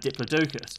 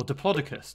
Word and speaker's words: diplodocus: such as brachiosaurus and diplodocus or diplodocus depending on how you say it by the way